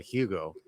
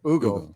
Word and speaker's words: Hugo: Is it pronounced Ugo or Hugo? Everybody say Hugo. Yeah, but it's Actually, Ugo. it's Ugo. People get mad at me when I say Ugo.